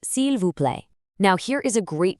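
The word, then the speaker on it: s'il vous plaît: It means slowly and you finish it off with the ever polite cule pronounced silv.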